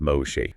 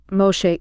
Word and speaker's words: Moshe: of the Iron Curtain, the first name is pronounced Moshe, and the last name is Idel. Moshe Idel.